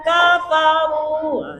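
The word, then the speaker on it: كفروا: Alladzina kafaru ya. Ruh juga panjang. Kenapa panjang? Karena ada huruf wau mati sesudah baris depan.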